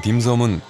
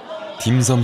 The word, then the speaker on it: 딤섬: 딤섬 식당입니다. 우리말로는 점심이라 쓰고 광동어로는 딤섬이라 발음하는 이 음식의 뜻은 광둥식 간식이라는군요.